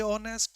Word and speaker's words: honest: A honest. No, that's grammatically wrong because honest is vowel sound the beginning of the pronunciation.